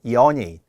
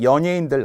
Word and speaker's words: 연예인: 연예인이라고 제대로 발음하는 분이 별로 없어요. TV에 우리가 몸통 연예인들 나오잖아요. 그런데 연예인이라고 많이 하죠. 연예인. 절대 안 되고요. 연이 이유가 바로 오항에 있습니다. 예래는 예래로 발음한다. 따라서 연예인에서 니은은 올라가 연음이 되지만 연예인의 이중모음을 기억하라는 거예요.